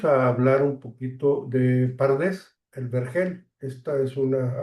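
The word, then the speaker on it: פרדס: Y las vocales a y e se añaden para poderlo pronunciar, no se podía decir, sino que se dice pardés y es una forma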